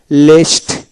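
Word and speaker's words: leased: তারপর লেস, লেস মানে এজারা দাও, লেস্ট, লেস্ট ট উচ্চারিত হবে।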